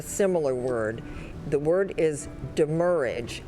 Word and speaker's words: demurrage: Are there any alternate pronunciations? Demurrage. What is the language of origin? It comes from a Latin-derived French word plus an English combining form. Demurrage.